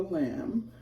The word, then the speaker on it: lame: walk so this is a called a lamb it's spelled lame but it's called a lamb and it has a